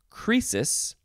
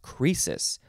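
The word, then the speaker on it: Croesus: next is it's pronounced crisis but it is spelled capital c r o e s u s crisis the o e makes an e sound noun from 1621 crisis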